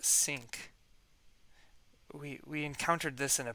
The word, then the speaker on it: sinc: This is a sinc function, pronounced sinc.